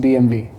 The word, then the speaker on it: BMW: You know, you're one of the few people who actually pronounced BMW. Yeah. But large chunk of people don't know it's actually the pronunciation, German pronunciation is BMW.